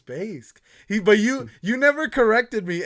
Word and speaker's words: Baysk: It's technically Baysk, right? It's correct, yes. But I mean, I prefer pronounced basic, so I'm okay that works getting around, you know.